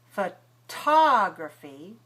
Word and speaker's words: photography: Now look at the difference between photography and photograph. Photography, we have stress on the second syllable, so we have a strong puff of air. That T is aspirated.